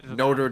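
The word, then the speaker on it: Notre Dame: know like they have a university called No Dame Dame already as a famous that's valid that's valid you're allowed to pronounce things the way that you would nor pronounce things when you take from languages yeah but you don't get this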